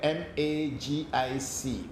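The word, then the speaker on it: magick: different between magic and magic baba there's a very big difference between the words magic and magic even though the pronunciation looks or sounds the same the word magic which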